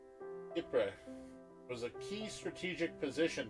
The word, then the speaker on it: Ypres: Dubbed Wipers by British troops due to its difficult pronunciation, the Belgian town of Ypres was a key strategic position during the war.